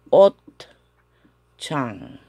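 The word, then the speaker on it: 옷장: Y la pronunciación sería Ot Chang.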